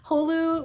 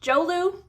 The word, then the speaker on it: Jolu: there's a character mispronunciation hulu which is short for jose luis is pronounced jolu in the audiobook so